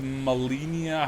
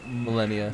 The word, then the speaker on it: Malenia: Was But, like- was Malenia? How do you say her name? Malenia.